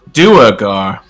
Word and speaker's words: Duergar: It is pronounced Duergar.